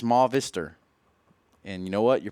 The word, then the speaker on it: Movistar: F Silva has said please stop saying movie star it's ma vistor and you know what